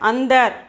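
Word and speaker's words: अंदर: Andar, aavo. Okay, under avo means come inside. Okay, under means that there also before the we have to pronounce ind. Okay, we have to pronounce ind, under.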